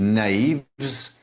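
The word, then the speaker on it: knaves: But one specifically which might be a bit difficult is naves with a silent K which is an old-fashioned word meaning dishonest people.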